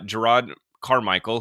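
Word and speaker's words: Jerrod Carmichael: And so, this was kind of interesting, but Gerard Carmichael, did I say his name You right did, this yeah.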